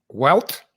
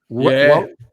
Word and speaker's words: Wout: Welt. Not Walt.